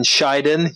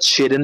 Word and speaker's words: Scheiden: a weapon shop in Scheiden. Yes, it's pronounced Scheiden, not Shiden.